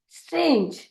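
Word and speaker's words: strange: STR का उच्चारण किया जाएगा स्ट्र के रूप में, स्ट्र, स्ट्र। और ए होगा, ये शब्द किससे समाप्त हो रहा है? ई से। ई से समाप्त होने वाले शब्दों का नियम क्या है कि हम उसके पहले आने वाले स्वर का नाम लेते हैं। तो हम यहाँ पे ए का नाम लेंगे और ई को भूल जाएंगे, इसीलिए वह हो जाएगा लगेज, सॉरी स्ट्रेंज, स्ट्रेंज।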